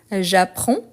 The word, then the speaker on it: j'apprends: fais comme ça donc la faute la plus courante par rapport à ces verbes c'est que on ne prononce pas le DS pourtant il faut l'écrire donc j'apprends j'apprends sauf que euh